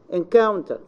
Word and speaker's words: encounter: on the preceding syllable so we say for example encounter encounter Cal this is encounter this is the stress in the middle determine determine the tear